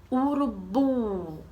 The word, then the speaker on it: urubu: Por exemplo, urubu. Qual é a sílaba mais forte de urubu? Bora lá. Urubu. Qual é a sílaba? O bu. Muito bem.